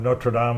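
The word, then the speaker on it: Notre Dame: I remember when I was president of Notradam, Australia, you notice we pronounce it correctly over there.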